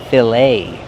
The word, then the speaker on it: fillet: So, pronunciation. We see the ET making a long A sound, like say and day. Fillet.